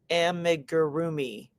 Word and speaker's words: amigurumi: Oh, she gave it phonetically. Rhonda, you're a rock star. Amigurumi.